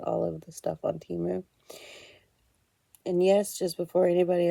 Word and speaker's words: Temu: correct me, I know according to the Super Bowl commercial, it's supposed to be pronounced Temu. I'm going to continue to call it Temu because it sounds better to me, I guess.